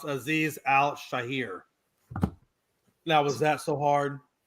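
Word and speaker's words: Azeez Al-Shaair: Hey, by the way, the name of that guy is actually pronounced Aziz Al Shahir.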